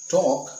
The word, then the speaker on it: talk: So table, E is silent, talk, L is silent, build, we have already discussed.